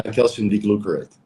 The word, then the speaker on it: calcium D-glucarate: Is calcium D-glucarate? Did I pronounce that correctly? Yeah, calcium D-glucarate.